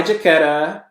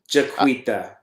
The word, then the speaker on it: Jaquita: Hi, Jaquetta. Jaquita. Jaquita? Jaquita. I made her verify so I would say her name correctly in my Yes, I lost my family shopping.